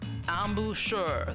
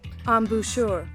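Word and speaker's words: embouchure: Ambushure. That's how Google's pronouncing it. Ambushure. Ambushure. Sounds a little French.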